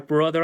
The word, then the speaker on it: brother: Y acá tenemos algunas aclaraciones que, por ejemplo, Bart and Lisa are brother and sister. ¿Ya? Bart y Lisa son hermano y hermana. Nuevamente, la TH la pronunciamos con la D de dedo y brother significa hermano y para decir hermana utilizamos sister.